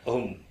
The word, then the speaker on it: ohm: Ini simbol omega tapi kita bacanya ohm, ya, OHM tulisannya. Ya, ini bacanya ohm.